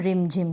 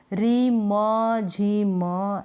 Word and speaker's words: रिमझिम: में मो है ना इसके साथ अ का उच्चारण नहीं है आप इसको बोल कर देखेंगे नाम को तो आपको पता चल जाएगा कि मौत के साथ हम रिमों जिमों ऐसे नहीं बोल रहे हम बोले रिमझिम तो मौत के साथ हम